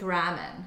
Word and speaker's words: ramen: in Japanese the la the L's are usually pronounced like in more of an R sound. So it's like ramen. So instead of like lamian.